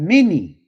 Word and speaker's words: Meni: We go back to where it said unto that number H4507 you have Meni. M E N E M E N I Y Meni.